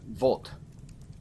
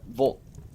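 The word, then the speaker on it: вот: what it meant and the bot or uh Vault it sounds like the word vote except you spoke it through a straw try to speak it through a straw uh Vault almost the way some people pronounce it so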